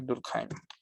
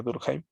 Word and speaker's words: Durkheim: Se escribe Durkheim, pero creo que en alemán sí se pronuncia Durkheim. Durkheim.